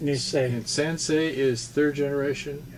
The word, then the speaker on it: Nisei: Is the word Nisei, or how do you say it? That means the second generation in Japanese. Yeah, I know. Did I say it right? Nisei? Yeah, it's pronounced Nisei.